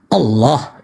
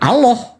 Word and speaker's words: Allah: alif Allah Allah itu ketika lamnya ada dua dan ada tanda tasdik maka lidah kita diletakkan ke langit-langit sebelah tengah Allah gitu cara pengucapannya ya bukan Allah Allah bukan itu hanya faktor dialek di daerah-daerah tertentu yang tidak mampu melafazkannya sesuai dengan makhraj huruf nah persoalan itu muncul